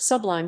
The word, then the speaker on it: SBLIM: server written in c esplin pronounced sublime standards based linux instrumentation